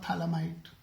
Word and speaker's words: phthalimide: pH is silent. It's called phthalimide synthesis.